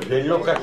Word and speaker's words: reloj: 그걸 렐로가 시계이기 때문에 우리가 알아둬야 된다는데 읽으실 적에 스페인에서 J자로 끝난다는 이것도 하나밖에 없어요. 레로 한 다음에 흐를 따로 읽으셔야 돼요. 이거를. 그래서 렐로 이렇게 발음이 돼요.